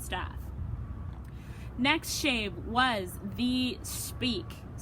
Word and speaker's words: Speick: Next shave was the Speick, right, Husk?